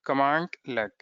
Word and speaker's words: cmdlet: How do we write it? CMDLET. This is commandlet. Okay, this is how we pronounce commandlet. Sorry, this is this way. Commandlet.